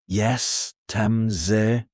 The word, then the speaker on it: jestem z: To say where you're from, you say jestem z, pronounced jestem z.